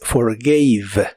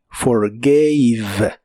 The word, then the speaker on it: forgave: En el pasado es forgave. Es un verbo irregular. La A de esta forma se pronuncia como EI. Forgave. Forgave.